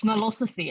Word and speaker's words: Smellosophy: pronounce it but smell smellosophy uh what does the note knows tells the mind with harvard university press how do we pronounce the first word it's milosophy i should say this